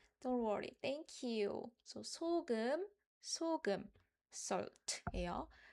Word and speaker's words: 소금: Likewise, we read this with salt as 소금. We don't read it as 소금. Then it's wrong. 소금. Always start with the high-pitched note.